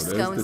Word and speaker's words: scones: 2016 survey found that 51 percent of britons pronounce it to rhyme with gone whereas 42 percent pronounce it to rhyme with bone the former is a